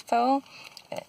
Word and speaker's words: pho: be a play on the traditional, i.e. American pronunciation of it as faux, which then plays off of like faux, like the French word faux for fake.